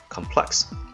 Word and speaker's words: complex: Complex is the pronunciation when used as a noun, and when used as an adjective, just like how it is in the passage, the stress is placed on the second syllable, complex.